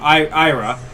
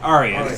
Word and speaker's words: Arya: big role is I'm going to say the name wrong. Ira, the daughter of the Stark. Arya.